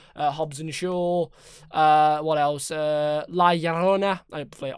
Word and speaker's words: La Llorona: La Llorona. I said that right. Or The Curse of La Llorona.